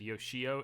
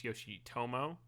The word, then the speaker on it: Yoshitomo: week oh it's correct i mispronounced his name i said yoshio it's yoshitomo yoshitomoyo i think i i